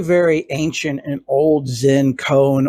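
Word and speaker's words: koan: ancient and old zen cone or Coen as it's often pronounced and that is a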